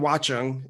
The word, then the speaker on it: Watchung: So according to my notes, you grew up in New Jersey in Watchung. Is that pronounced right?